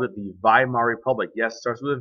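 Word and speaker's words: Weimar: they called it the viar Republic yes starts with a v in German ladies and gentlemen W's are pronounced as V so it's called viar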